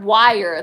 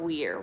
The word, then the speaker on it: weir: waterfall for a picture oh liar wire that's how it's pronounced thank you absurd wire w-e-i-r-wire not weir wire this sounds like a